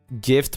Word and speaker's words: GIF: That's not how G works. Though that is how it works. Gift minus a T.